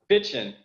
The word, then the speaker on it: Fitschen: Now, let me make sure I pronounce this right. Is it Fitschen or Fitschen? Fitschen.